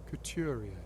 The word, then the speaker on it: couturier: Couturier. Couturier! I was completely wrong. A fashion designer who manufactures and sells clothes that have been tailored to a client's specific requirements and measurements. Couturier.